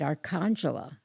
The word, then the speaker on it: Arcangela: day your grandmother died, Arcangela, which is my mother's mother. Okay. Her name was Arcangela. Arcangela is her name. Arcangela. Okay. So they called her Angela, but in Italian it's Arcangela.